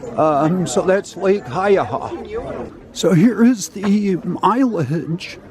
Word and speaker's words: Haiyaha: to be continued so the correct pronunciation of the lake is Lake haaha and it's obviously a Native American word um so that's lake haaha so here is the